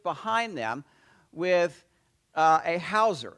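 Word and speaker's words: hawser: them with uh a Hauser now it's not spelled like you know there's a w in there somewhere um but a uh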